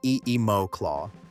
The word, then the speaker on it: NemoClaw: The platform is called Nemo Claw for pronunciation, Nemo Claw, and it sits on top of Nvidia's existing